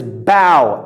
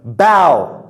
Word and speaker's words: bow: As a verb, it is bow, ow sound, right? So I think you guys call ow like water. Bow. Bow is prostrate down like this. This is called bowing, all right? As a noun, it is bow, O sound, like bow.